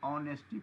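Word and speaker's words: honesty: क्या पढ़ेंगे नेस्टी इसको ऑनेस्टी पढ़ते हैं ऑनेस्टी ठीक है य एच इसमें साइलेंट होता है एच नहीं पढ़ते हां सर और और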